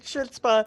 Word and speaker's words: chutzpah: scheming, and I'm gonna fail it because my chutzpah's so low. But I feel I could use a. Oh my god, he keeps calling it chutzpah, and I don't know if it's on purpose